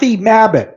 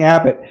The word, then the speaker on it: Mabbitt: By the way, the coroner, Kathy Mabbitt, I keep saying her name wrong. Usually I call her Kathleen Abbott.